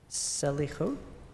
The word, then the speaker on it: Selichot: desserts at Selichot? Slichot. Slichot. Yes. Okay. But it's spelled S-E-L?